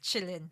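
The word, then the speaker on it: Qilin: most importantly ana um working out how to pronounce quillin kilin um Chillin is it Chillin well I think g g knows best Chillin yeah I think so yes all right so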